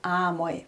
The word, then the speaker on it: amoi: Wie vorher schon bei einmal, das zu amoi wird.